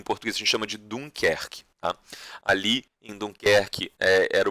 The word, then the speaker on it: Dunkerque: numa região litorânea chamada Dunkerque. Tá? Em francês se pronuncia muito parecido com isso, em inglês eles chamam de Dunkirk.